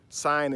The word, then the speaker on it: sign: But sign in nature, the G is silent in sign, right?